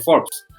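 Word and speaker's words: Forbes: like saya berdasarkan forks pordes ya tulisannya bacanya Force orang terkaya di dunia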